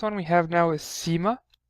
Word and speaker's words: Ⲥ: see a certain like I see it's called Seema so and it's like the s part of the C and the pronunciation so it's an S or you can